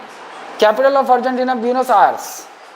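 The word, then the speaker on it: Buenos Aires: फराना नदी के किनारे अर्जेंटीना की कैपिटल ब्यूनस ब्यूनस आयर्स यही है स्पेलिंग थोड़ा सा स्पेलिंग इसका [नाक से की जाने वाली आवाज़] थोड़ा सा टेढ़ा है।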